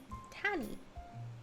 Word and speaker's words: Tani: I say it's tan like you get a tan and then e tanny. It's very very simple. Four letters. Very simple. Not the tanny mention. Yes, the tanny allegations are real.